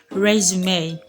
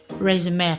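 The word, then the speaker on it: résumé: e at the end of a word could be a sound example i have here is resume resume because i'm sure you should know what resume is next one is cliche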